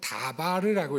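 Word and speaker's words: דבר: 근데 노란색을 빼면 그러면 아래 글자하고 똑같아지죠. 다바르라고 읽어요.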